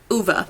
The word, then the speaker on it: Ove: And then I did start reading A Man Called Uva, I think is how you say it, by Frederick Bachman. I did put on the audiobook while I was listening last night, and they pronounce it Uva, so that's what I'm gonna say.